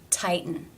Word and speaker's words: tighten: The exception to Rule 2, when it is followed by the schwa and the N sound, as in tighten.